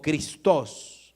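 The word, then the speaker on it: Χριστός: Cristo es una palabra griega, Cristo o Christos, es más o menos como se pronuncia.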